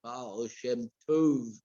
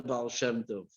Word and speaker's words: Baal Shem Tov: Took him a little while to pronounce the word Baal Shem Tov properly. Baal Shem Tov.